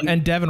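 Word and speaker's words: Devon: Devin rhymes with seven. It does rhyme with seven.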